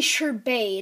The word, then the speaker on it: sherbet: Well, my sherbet isn't spelled like the regular sherbet or sorbet. It's actually sherbet. It's like French with a touch of Italian.